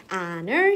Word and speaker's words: honor: honor 시험이에요. H 발음 안 나고요.